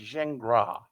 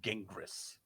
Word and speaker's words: Gingras: It's Zingra, not Gingras.